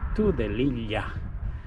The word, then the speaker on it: Tudelilla: Yeah, in Spanish pronunciation is Tudelilla.